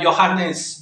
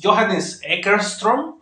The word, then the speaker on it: Johannes: en vivo este utiliza johanness johanness creo que se pronuncia así sino pues una disculpa